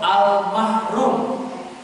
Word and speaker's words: al-mahrum: Ini kelompok yang pertama, yaitu almarhum, yang mendapatkan rahmat Kelompok yang kedua disebutkan para ulama dengan kelompok al-mahrum. Beda sedikit pengucapannya. Marhum, yang kedua mahrum.